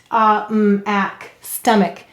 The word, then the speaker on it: stomach: now let's read it stomach and we say it here why any vowel may say uh or it in an unstressed syllable so it's a schwa sound it's a lazy vowel stomach oh and why